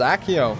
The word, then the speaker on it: accio: it it's not like I'll be the one pronouncing it for the rest of the game oh it's accio there we go then I nailed it that